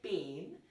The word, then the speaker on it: pain: Pain is what? It's not to be pronounced like pain. It is pain.